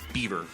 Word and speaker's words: Belvoir: l v o i r but it's actually pronounced I'm not kidding beber kind of like the bucket woman it's bouquet